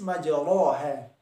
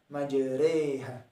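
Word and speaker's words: مجريها: Tertulis majroha, tetapi pengucapannya adalah majreha.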